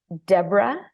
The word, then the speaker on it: Deborah: Well, they can find me at Deborah, and my name Deborah is DeBorah, Mhm.